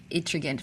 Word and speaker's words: Ettringite: So today we are discussing a very interesting subject in which you're very experienced, the delayed Ettringite formations, if that's how it's pronounced.